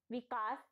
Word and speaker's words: विकास: विकास, विकास। हम अधिकतर लोग सा का उच्चारण शा में करते हैं और लिखते वक्त उन्हें ध्यान नहीं रहता और उसे वो शा ही लिख देते हैं।